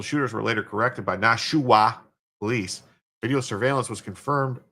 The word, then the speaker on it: Nashua: I said Nashua, not Nashwa. I didn't say Nashwa. I said Nashua. Three syllables. Yeah.